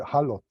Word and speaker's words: HALOT: How do you pronounce it? Halot? We call it halot.